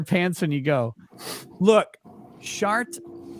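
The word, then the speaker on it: Chartres: when you go look shart is spelled c-h-r-t-r-e-s it's a cathedral in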